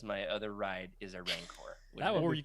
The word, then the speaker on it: Rancor: It would be really cool to get a bumper sticker that says "My other ride is a Rancor." That would Or be you pretty could pronounce it Ranker.